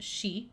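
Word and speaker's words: 四: The number 4 is pronounced shi, the same as the word for death, and is considered very unlucky.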